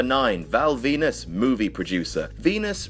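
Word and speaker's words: Venis: Val Venus movie producer Venus rhymes with penis did you get that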